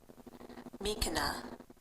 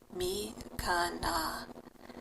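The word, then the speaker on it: miikana: Mikana, Mikana.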